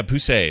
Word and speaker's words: Poussey: of little pixie yeah poussey is her name say yeah that's exactly how you say it thank you grew up